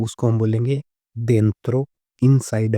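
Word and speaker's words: dentro: उसके बाद में अगर कोई भी चीज़ अंदर है तो उसको हम बोलेंगे डेंत्रो।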